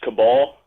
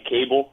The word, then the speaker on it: cabal: so and in the word cabal it's actually pronounced cabal rather than a cable yeah yes but sure Michael it's an insider